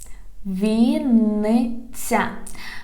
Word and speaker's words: Вінниця: Вінниця, Вінниця. Вінниця, we write it with double N. Вінниця. Вінниця. Pay attention. Вінниця.